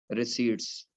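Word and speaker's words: receipts: इसके बाद आप इसमें ऐड करेंगे तमाम एस्टिमेटेड फ्यूचर की कैश रिसीट्स। क्या ऐड करेंगे? कैश रिसीट्स, पी नहीं बोलते इसमें, साइलेंट है, कैश रिसीट्स एस्टिमेट करेंगे।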